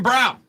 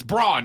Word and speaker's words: Braun: job of it Christian Brown the guy who doesn't know how to pronounce his own last name it's Brawn not brown but hey you do